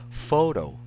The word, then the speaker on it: photo: The stress here is in the first syllable. That's why we read it as photo. We do not recite this as photo, right?